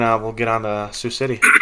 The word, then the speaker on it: Sioux City: Sioux City. Sioux City, yeah.